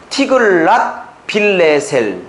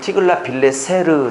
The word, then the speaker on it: 티글랏 빌레셀: 그 유명한, 그 포악하기로 유명한 티글렛 빌레셀 3세입니다. 지금 적으세요. 디글랏이라고 해도 되고 티글랏 해도 되면 영어 발음은 T니까 티글랏 빌레셀 3세입니다. 티글랏 빌레셀 3세. 원래 제대로 하면 티글랏 빌레세르 3세인데 어쨌든 티글랏 빌레셀 3세가 이때 절대 군주였어요.